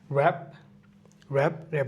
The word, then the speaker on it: wrap: ভি এর কোনো হচ্ছে গিয়ে লেটার নাই, মানে ভি এর কোনো এমন কোনো ওয়ার্ড নাই যেখানে ভিটা সাইলেন্ট। নেক্সট হচ্ছে কি ডাব্লিউ, র্যাপ মানে কি মোড়ানো, WRAP, র্যাপ।